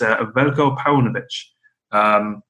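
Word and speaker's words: Veljko Paunović: ever heard of, and they said that it's Veljko Paunovic.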